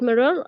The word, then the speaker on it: mirror: Be careful with the with that mirror. Uh, the glass is cracked. Be careful with that mirror. Mirror, not mirror, by the way. Mirror with a stress on the first syllable.